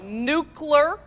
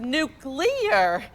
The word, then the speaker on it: nuclear: libary instead of library new Clerk instead of nuclear and it's February not